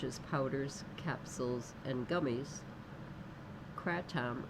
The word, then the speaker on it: kratom: Marketed as natural and often sold in forms such as powders, capsules, and gummies, kratom, or it may be pronounced kratom, is gaining popularity in the US among teens.